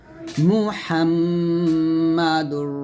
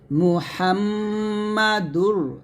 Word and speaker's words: মুহাম্মাদুর: একসাথে লা ইলাহা ইল্লাল্লাহু মুহাম্মাদুর রাসুলুল্লাহ মুহাম্মাদুর ডাল লেগে র কে ধরবে মুহাম্মদ এখানে গুন্না করবেন মুহাম্মদ এরকম মুহাম্মাদুর